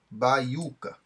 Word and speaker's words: baiuca: Segundo o novo acordo, ele continua sendo lido de forma tônica, mas não tem mais esse acento agudo, ó, baiuca. Se continua falando da mesma forma, mas não tem mais o acento.